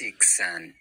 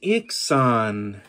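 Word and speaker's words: Iksan: Dreji azantis ixan. Dreji azantis ixan. Nice. All you'd missed was the accents. Dreji azantis ixan means I really am a knight.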